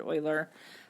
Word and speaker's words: Euler: whose name was Leonard Euler I'm at his name is spelt this way it doesn't really look like earlier but that's how you say it he lived in a